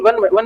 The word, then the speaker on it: one: ONE वन में क्या आ रहा है, कैसे लिखते हैं, वन, वावंसी और नानल ऐसे लिखते हैं ना, प्रोनाउंसिएशन की बात हो रही है, साउंड कौन सी निकल रही है, वह की है ना,